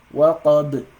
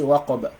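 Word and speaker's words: وَقَبْ: So you don't say waqaba when you stop on this. You don't say وَمِن شَرِّ غَاسِقٍ إِذَا وَقَبَ. You don't do that. That's wrong. You don't pronounce it like that.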